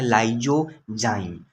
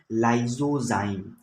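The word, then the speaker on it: lysozyme: उसका नाम है लाइजोजाइम, लाइजोजाइम। क्या नाम है, लाइजोजाइम, लाइजोजाइम।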